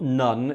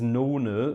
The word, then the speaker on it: nona: a 7th, a septime, a nona, which is a 9th, not none, it's nona, that's how you pronounce it, and this klingend cymbal thing.